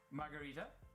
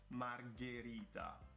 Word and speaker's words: margherita: more ferrari not ferrari margarita it's margherita so g h is g g the same way